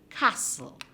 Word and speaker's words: castle: letter is silent also castle our next word castle castle do you hear the t that is there in the word castle no so for castle the t is silent castle it is silent